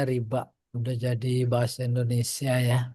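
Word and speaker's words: ربا: Itulah babur riba. H. Coba Pak di catatan kaki ada enggak sebelum masuk? Oh tuh babu riba tuh bikasr ro maksuron. Oh benar bacanya riba.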